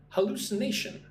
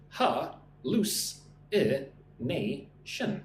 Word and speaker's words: hallucination: Listen and repeat. Hallucination. Ha-loose-i-nation. So 5 syllables.